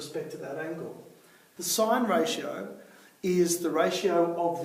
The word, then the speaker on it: sin: a specific ratio so for the sign ratio we write it as sin but actually it's still pronounced sign and so I just